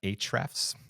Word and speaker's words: Ahrefs: topics yeah absolutely so I use a software called hrefs it's spelled a-h-r-e-f-s and it is uh